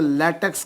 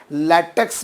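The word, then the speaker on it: latex: से आप जानते होंगे उसे लेटेक्स कहा जाता है लेटेक्स भी प्रोनाउंस करते हैं कुछ लोग कुछ लोग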